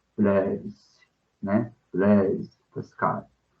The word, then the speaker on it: Blaise: A gente pronuncia uma forma mais aportuguesada, né? Blaise Pascal, né? Blaise Pascal e vai por aí, né? No francês ficaria tipo Blaise, né?